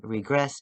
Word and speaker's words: RGRSS: And Regress, it is spelled RGRSS. And we will talk about the artwork. We'll talk about the lyrics. Here it is one more time. Regress, a world of concern.